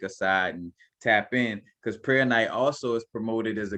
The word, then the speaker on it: Prehnite: Per night, you know, some people I might be kind of catching the H too strongly.